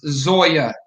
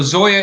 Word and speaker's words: Zoya: um again sharia compliant and the answer is zoya dot finance and spell sure so zoya is spelled z-o-y-a dot finance and you know i